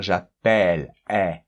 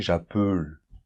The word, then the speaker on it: j'appelle: Et ça nous permet de dire j'appelle, Et c'est normal, parce que quand un mot termine comme ça par consonne et un E muet, le E qui est avant, il doit toujours s'ouvrir.